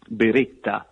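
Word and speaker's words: Beretta: many people know that firearm factory Bera, Bereta, as the Italians would pronounce it, was founded uh 500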